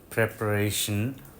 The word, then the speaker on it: preparation: প্রিপেয়ার verb থেকে যখন noun হবে প্রেপারেশন, তখন প্রি থাকবে না, প্রেপারেশন।